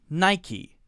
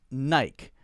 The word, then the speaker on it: Nike: most common Chevy Chevy Chevy next one Nike Nike Nike Nike now a lot of people mispronounce this one as naik because we say I learned the rule is